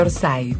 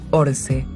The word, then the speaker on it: Orsay: El museo es de Orsay, pero se pronuncia Orse, porque es francés.